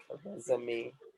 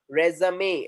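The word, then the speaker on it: résumé: So these are E. the words that are ending with acute accent, and the sound will be something different.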